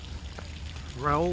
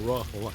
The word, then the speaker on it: Rahul: Raoul was telling me, or Rahul I should say. John Dumas couldn't pronounce Rahul, so he always called him Raoul, like the Spanish Raoul.